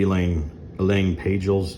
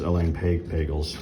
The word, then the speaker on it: Elaine Pagels: I think that's how you pronounce her name. Maybe Elaine Pagels. I think it's Elaine Pagels, but I've read her works too, what he just referred to.